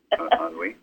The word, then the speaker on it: ennui: Ennui.